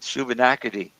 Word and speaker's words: Shubenacadie: I said, Shubenacadie. He said, Shubenacadie. Hey, it's just like it looks.